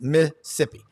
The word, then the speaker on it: Mississippi: and super talk Mississippi it's two syllables Missippi uh had lunch last